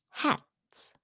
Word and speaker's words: hats: tabs that stuff Yuma when it's voiceless then you pronounce it like an S like this hats hats foreign hats mops you see the S sound mops cats cats dogs